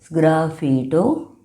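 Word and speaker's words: sgraffito: The next technique is graito. S G R A F F I T O that is the spelling pronounced as graito means scraping back and relieving.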